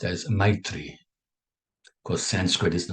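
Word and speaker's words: मैत्री: Sanskrit just for your information right now it's pronounced as Mitri of course Sanskrit is the mother language there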